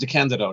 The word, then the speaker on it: DeCandido: I should say my last name is pronounced DeCandido, not DeCandido.